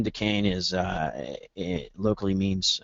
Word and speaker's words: Dacane: again means yeah decain it's pronounced decain I mean listen you